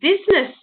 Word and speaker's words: business: the i in because i used to go b u s and e-s-s because you don't hear the eye it's one of the